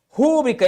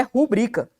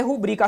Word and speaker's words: rubrica: O correto é rubrica. Correto do ponto de vista gramatical, tá, galera? Correto do ponto de vista do que diz a norma. Correto é rubrica, a sílaba tônica tá bem aqui.